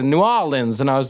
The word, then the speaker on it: New Orleans: orleans he's like no you gotta say it like with the accents the the oh and the the new and the o are like connected new orleans and i was like